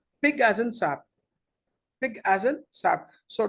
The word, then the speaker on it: SAP: It's not a word, it's an abbreviation, and abbreviations we never pronounce it as a single word.